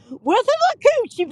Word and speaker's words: Withlacoochee: Withlacoochee Park.